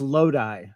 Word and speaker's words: Lodi: That's like the song, the Creedence song. It's actually pronounced Lodi. Lodi. Lodi. California. And that is like the Creedence Clearwater Revival song, yeah? There's a song called Lodi, yeah.